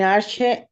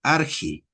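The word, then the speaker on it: ἀρχή: En la transliteración eh no vamos a tener nuestro sonido che, sino que por ejemplo acá le iríamos en arge.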